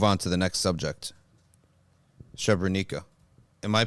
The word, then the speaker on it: Srebrenica: Srebrenica. The C is pronounced as a Z.